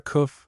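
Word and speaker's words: coof: word, he's but a coff footnote fool pronounced like German. O or o e for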